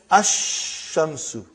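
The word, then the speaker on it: الشمس: And then, as-shamsu, no lam.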